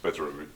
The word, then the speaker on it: Petr: it's spelled with a second B and it's pronounced better for some reason gives people a lot of